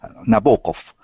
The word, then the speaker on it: Nabokov: We say it wrong in English, so you can say it right. So I'll say in Russian, Nabokov.